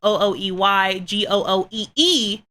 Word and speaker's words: OoeyGooee: It's spelled OoeyGooee, not GOOEY, GOOEE.